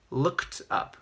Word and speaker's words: looked up: for look up that's looked up so it actually has a tee pronunciation not look at but looked up looked up so let's